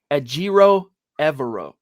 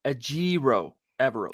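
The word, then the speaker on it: Ejiro Evero: at first glance anyway ajiro evero ajiro evero that's how you say this cat's name by the way i'm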